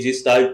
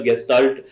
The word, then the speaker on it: Gestalt: में बात करनी है कई जस्टार्ट भी बोल देते हैं डिपेंड्स ऑन यू कि कैसे प्रोनाउंस करते हैं हम ज्यादातर गेस्टाल्ट साइकोलॉजी बोलते हैं तो इसका मतलब क्या